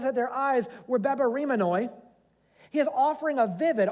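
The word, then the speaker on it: βεβαρημένοι: Bebaremenoi.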